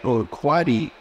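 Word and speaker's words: Urquidi: It's like Uquati, and that's spelled U-R-Q-U-I-D-I. That's the name of the plaintiff.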